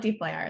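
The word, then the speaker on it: dplyr: it's called This is it's D for data frames and plier for you know the actual tool plier um and so this is from Hadley Wickham who developed it and he's saying you can pronounce it however you want so you've got permission here from from the guy that developed it um a lot of people call it deeply R though um but so the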